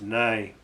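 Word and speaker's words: ναί: It's pronounced nai in the Greek, the word for truth. And often it's translated simply in some translations as yes, yes, Lord, yes, Lord.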